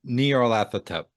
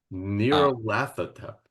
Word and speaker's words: Nyarlathotep: Masks of Nyarlathotep, I pronounce it Nyarlathotep. Nyarlathotep.